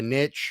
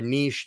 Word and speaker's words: niche: there and we re-brace we may frame out a niche or a niche depends on where you're at as to how you say it um we may um